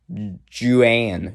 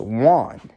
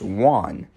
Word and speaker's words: Juan: that's precise point see that name is one but it's not pronounced how it looks it looks like ja and or something like that but it's pronounced one so that doesn't work